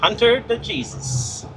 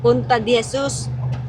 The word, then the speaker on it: Punta de Jesus: Hunter the Jesus. Is it? Punta. Huh? Punta de Jesus. Is it? Yeah. Okay, well they said it wrong then.